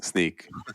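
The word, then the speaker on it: Snyk: hard you know try tweeting how do you pronounce sneak I know I tell people called sneak and they're like really so I have you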